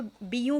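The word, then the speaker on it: Bijou: यहाँ पर ना बहुत अच्छी सेल आई हुई थी, बीजू ब्रिगेड करके है, मैं इसको इसी तरह प्रोनाउंस करती हूँ। एक्चुअली ये फ्रेंच है, तो बीयू बोलते हैं इसको ना।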